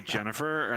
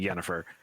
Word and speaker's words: Yennefer: Like, is this supposed to be Jennifer, and then for some reason they think it's Yennefer? No, it's actually Yennefer.